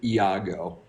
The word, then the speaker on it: Iago: I just love that you pronounced every syllable in the name Iago.